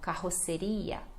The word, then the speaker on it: carroceria: E a pronúncia é assim, então, carro, dois R's, seria. Então, aqui o R já muda, né? É ria. Então, carroceria, carroceria.